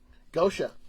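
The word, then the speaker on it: Goetia: to say these words uh how do you pronounce g-o-e-t-a-i-a Gosha Gosha Gosha all right because that was like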